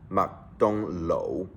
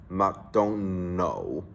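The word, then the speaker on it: 麥當勞: The fast food chain restaurant we all know, McDonald's, in Hong Kong is pronounced Mak Dong Lo. But people tend to mix Chinese and English together and pronounce it as Mark don't know.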